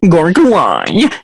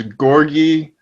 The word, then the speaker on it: Gorgui: going to mind dying gorgeous dying so that's not how you pronounce gorgeous it's i i believe it is gorgey dj jing it's like